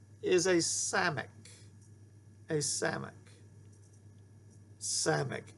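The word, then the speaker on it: סמך: Okay, our next letter is a samic. A samic. Samic. It's the S sound, as in sin, sin, s, s, s, as in sin.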